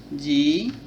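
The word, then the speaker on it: Z: ডব্লিউ এক্স ওয়াই জেড এটাকে আমরা জেড বলি ব্রিটিশ উচ্চারণ এরকম আর আমেরিকায় জি বলে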